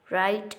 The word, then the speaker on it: write: Write an essay about your friend. In this sentence, W is the silent letter.